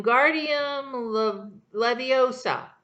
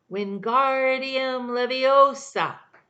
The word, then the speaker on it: Wingardium Leviosa: much more like when Guardium Leviosa he shouted waving his long arms like a windmill they're saying it wrong Harry heard Hermione snap its Wingardium Leviosa make the guard nice and long you do it then